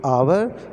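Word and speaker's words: hour: देखिए आवर and honest, तो इसका प्रोनाउंसिएशन अगर हम लोग करके देखिए कि आवर में ए का यूज़ ए से यूज़ हो रहा है, ठीक है, आवर अ, ठीक है, तो इसलिए एक वॉवेल साउंड है, इसलिए इसमें एन का यूज़ हुआ।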